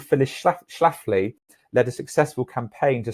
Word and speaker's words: Phyllis Schlafly: schlafly although she was a woman get the pronunciation right phyllis schlafly although she was a woman she did not